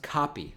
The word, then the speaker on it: Capiz: Name is pronounced Copy.